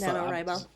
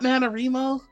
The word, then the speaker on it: NaNoWriMo: NaNoWriMo. Yeah. I definitely is did it that. not NaNoWriMo? Rye, because Right. writing.